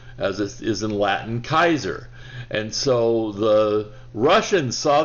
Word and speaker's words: Caesar: leader the kaiser and kaiser is the literal latin pronunciation of caesar caesar is the english pronunciation but the latin pronunciation is kaiser so kaiser refers to